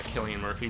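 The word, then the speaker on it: Cillian Murphy: murphy right yeah yeah killian murphy which i didn't know that was the pronunciation until i saw him on irish tv and that's how they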